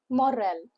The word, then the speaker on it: morale: Two syllable words with a stress on the second syllable. M O makes the sound of M. M U H. And R A L. Moral. Moral. It is not moral or moral.